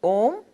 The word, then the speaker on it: om: was part one line of Hinduism and it's pronounced om and it's called the primordial sound we believe